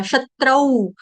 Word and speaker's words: शत्रौ: च के ऊपर है आघात, क्यों है आघात? क्योंकि आपका वर्ण जो है वो है त्र से त्रिशूल, त्र, त्र भी आपका क्या जोड़ाक्षर, आधा त और र, त्र, आधा त और र, तो क्या बना त्र, त्र से त्रिशूल। त्र वर्ड क्या है? संयुक्त अक्षर, संयुक्त वर्ण, तब करके उसके ऊपर आघात आ जाएगा, आधे त तरबूज वाला, शत्रौ, शत्रौ, शत्रौ।